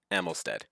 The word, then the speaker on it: Amylsted: Amylisted, as others have pronounced, and I don't think I don't think I fixed that in the description. But it is actually pronounced and spelled Amylsted.